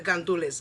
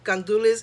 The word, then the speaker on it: gandules: add your rice and then i add the gandulas gandules is pigeon peas so you see it here